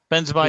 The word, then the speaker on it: Benzema: also ben's how to say it benzer beanie benzema yeah yeah who um he's got the two